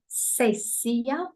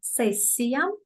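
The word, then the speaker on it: сессия: Examination session, we call it in Russian sessia. I'm pronouncing it in Russian sessia, twice a year in January and in June.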